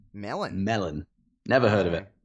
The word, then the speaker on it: Mellon: in Pittsburgh Mellon yet Mellon Emmy double N double n Menem Emmy double l o n melon melon never heard of